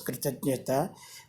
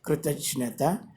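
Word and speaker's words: कृतज्ञता: Here, this is spelt with J, letter J. This is pronounced as kritajnata, kritajnata, and of course, the meaning of the word is gratitude.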